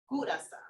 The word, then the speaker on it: Curaçao: Curaçao.